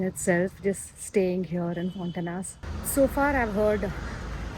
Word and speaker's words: Fontainhas: It's not Fontainhas. It's Fontainhas. Something, somewhere close to that pronunciation. It's a Portuguese word.